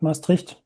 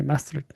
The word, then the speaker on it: Maastricht: That was almost perfect, Maastricht. Ah, sure. Okay, Maastricht.